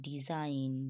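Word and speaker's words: design: থাকে তখন কি হবে ডিজাইন ডি ই এস আই জি এন কিন্তু জি এর কোন উচ্চারণ হবে না ডিজাইন হবে ঠিক আছে ন্যাট হবে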